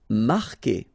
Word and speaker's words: marquer: Marquer, okay, Q-U together, it's only the sound K, K, marquer, you don't pronounce the U.